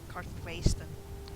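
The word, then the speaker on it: Karthwasten: I just can't accept it's pronounced Cartvasten, like everyone in the game does. Nope, Vasten. Has to be.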